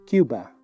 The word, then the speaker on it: Cuba: En inglés pronunciamos Cuba.